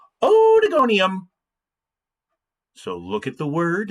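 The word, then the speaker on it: Oedogonium: a little bit more lighthearted and it is pronounced odigonium so look at the word and say it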